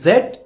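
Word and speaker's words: Z: এটা নিয়ে সমস্যা হয় এটাকে আমরা বলি জেড এটা ঠিকই আছে এটা ব্রিটিশরা বলে বাট আমেরিকানরা বলে এজন দেখবেন লেখা আছে কিন্তু বলে কি জি বাংলা রাইট এটা একটু মাথায় রাখবেন।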